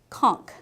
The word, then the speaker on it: conch: we have this the Creole conch conk yeah we learned how to pronounce that the Creole conquer kids